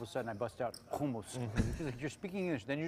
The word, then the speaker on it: hummus: People here say hummus. Yeah. But it's humumus, right? And she hates that I speak English and then all of a sudden I bust out humumus.